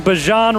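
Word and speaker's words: Bijan: We got that pronunciation. Bjon Robinson ran Arizona high school football and we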